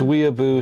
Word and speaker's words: Whenua: that's what he was saying when wua okay wua Street side okay gotcha W how yeah Lex